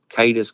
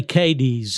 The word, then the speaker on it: Cadiz: I think they might have went over to Cadiz, Kentucky, however you pronounce it. And, they say Cadiz over there, but if you go to Ohio, it's Cadiz.